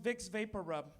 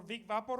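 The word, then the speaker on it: Vicks VapoRub: I moved here to realize the big Papa Roo it's actually pronounced vicks vapor rub do you have any idea how many CVS's I went to ask him for Vic Viper oh you will never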